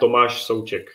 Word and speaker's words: Tomáš Souček: So it's Vladimír Coufal and Tomáš Souček.